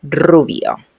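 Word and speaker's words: rubio: Notice here that when you when we have the r at the beginning it's very strong the sounds. So it's ruio. Okay, it's okay if it's not perfect right now, but you need to do a very strong sound.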